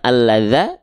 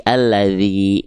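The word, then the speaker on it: الذي: Maka kita baca bukan alladza, bukan alladzu, tapi alladzi gitu.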